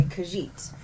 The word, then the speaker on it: Khajiit: first of laurels game and that is a Khajiit they hailed from the province of elsewhere and yes that's how it's pronounced but they are a feline race and